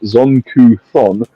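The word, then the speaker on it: Zon-Kuthon: The deity Zonkathon, pronounced Zonku-thon, possesses one of the most twisted and evil minds in the great beyond.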